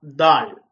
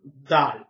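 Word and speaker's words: ذال: கிட்டத்தட்ட டிஎச் போட்டால் ஆங்கிலத்திலே என்ன சத்தம் வருமோ அந்த உச்சரிப்பு தான் இதிலே வருகிறது. இதனை உச்சரிக்கின்ற போது நாக்கினுடைய மேல் வாயில் உள்ள முகட்டினை தொட்டு உச்சரிக்க வேண்டும்.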